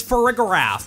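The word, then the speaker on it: Farigiraf: Anyway, when I saw the evolution's name, I assumed the G in the middle would be a soft G like in Giraffe, or the start of Girafferig, for a giraffe. But according to all the material I've seen, this Pokemon's official pronunciation is Ferrigiraffe, with a hard G sound.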